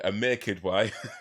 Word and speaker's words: Aamir Kidwai: No, let me say it properly. Aamir Kidwai.